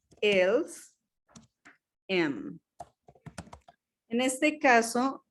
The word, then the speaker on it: aiment: Nous aimons, vous aimez, y ils o elles aiment. En este caso, la ENT no se pronuncia.